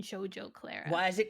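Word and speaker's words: Shugo Chara: watched it shjo CL shoar I think is how it's pronounced Shugo Shugo Cara for some reason in my head it has always been shjo Clara why is it called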